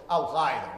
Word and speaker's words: al-Qaeda: Now, if we're going to learn anything else, let's pronounce al-Qaeda the way a Persian would pronounce it speaking Arabic. So al-Qaeda, right?